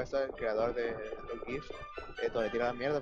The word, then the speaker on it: GIF: el creador de los GIFs, esto le tiró la mierda porque dijeron que era un, ¿cómo se llama? Un tipo sin conocimiento literario. ¿En serio? Sí, porque en realidad se pronuncia GIF, o sea, Graphic Interchange, no me acuerdo qué más.